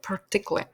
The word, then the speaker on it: particularly: значущого у певному контексті слово particularly часто скорочується у вимові особливо у розмовній і замість повної вимови particularly ви його зможете почути як partic particularly особливо зокрема despite